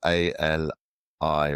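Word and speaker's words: Aliye: It's a L I Y E. It's actually pronounced Ali, but that's a separate uh pronunciation of it.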